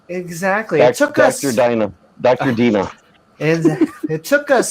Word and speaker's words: Dinah: and afterwards, she bare a daughter and called her name Diana. Holy moly! Finally, That's The name, yeah. That's Dinah.